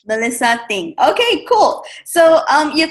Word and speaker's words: Melissa Th'ng: you pronounce your last name ah how I pronounce my last name is thing so Melissa thing Melissa thing Okay cool so um your content is both